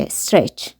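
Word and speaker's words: stretch: آخرش یعنی کش دادن بچه ها تیش تلفظ نمیشه استرچ خرگوش از خواب بیدار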